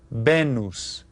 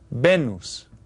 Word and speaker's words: Venus: same it's pronounced remember the vowels in Spanish are pronounced the same every time and they're a little bit shorter benus benus okay did you get